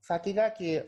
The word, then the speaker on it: Sakigake: Sakigake, or in Japanese pronunciation, Sakigake, literally means top runner, or something like that.